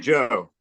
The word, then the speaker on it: Ghi: she lives Fernanda yes and it's it's ghee right right until that's easy yeah it's uh it's pronounced Joe yeah it's Joe I know I was watching your videos Joe